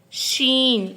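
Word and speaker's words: ش: Next is sheen. It has given the sound of SH.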